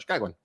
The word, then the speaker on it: Chicagoan: You say it really quickly with the accent. That sounds right. Chicagoan.